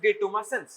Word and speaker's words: detumescence: The pronunciation is ডিটুমাসেন্স এন্ড ইট is basically the relaxation.